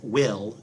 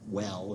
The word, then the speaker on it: Wel: times i kept saying well instead of will um but uh yeah his full name is uh weldon so there you go but he goes by he kept saying you pronounce it as will um and anyway they're